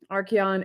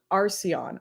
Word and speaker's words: Archeon: Archeon, it's pronounced Arceon.